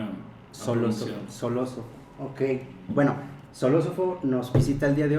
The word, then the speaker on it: Xolosofo: me enseñaron que la la x se pronuncia como es en ciertas situaciones es como soloso soló ofo okay tu tres meses en en enseñarme a solo soloso okay Bueno soló ofo nos visita el día